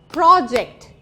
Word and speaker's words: project: Pro goes up where we stress the syllable o, and then ject goes down. So, it goes as project, geography, photography, animal, right?